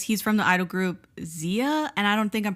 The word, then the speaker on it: ZE:A: turned actor because he's from the idol group ZE:A and I don't think I'm pronouncing that right. ZE:A.